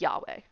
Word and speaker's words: Yahweh: It's spelled right the rest of the way, but yes, it's Yahweh. Cuz I even listened to some podcast about this, and they all pronounce it Yahweh.